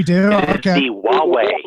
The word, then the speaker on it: Huawei: Wait, we now have a pronunciation correction. We do? It is Okay. the Huawei. Huawei.